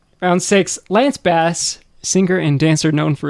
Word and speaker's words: Bass: Um, well, Lance, his name is Lance Bass, by the way, not Bass.